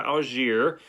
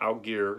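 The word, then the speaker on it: Allgeier: i pronounce it correctly this one is tyler algiere not out gear like i was saying or al aguero i can't even remember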